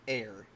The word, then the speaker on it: Heir: Uh though it is it is funny that she's a she's a jellyfish person whose name is pronounced air.